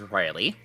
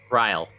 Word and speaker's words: Ryle: That is the fifth person that has mispronounced my name as Riley. Oh, I'm sorry, how do you pronounce your name? Ryle. It's Ryle.